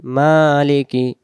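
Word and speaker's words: مَالِكِ: আর রহমানির রাহিম তারপরে মিম খারা জবর মা লাম জের লি কাফ জের কি মালিকি মালিকি মালিকি ইয়া ওয়াও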